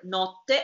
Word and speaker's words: notte: And here you have the difference when you sing between the word notte and the word note. Because if you pronounce properly the T, you will say notte. And this is double.